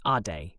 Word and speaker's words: Ade: "I'm Aid," he replied. "From Lagos, Nigeria, but I'm here for school. UMBA program." He pronounced it Ade, short for something longer, he said.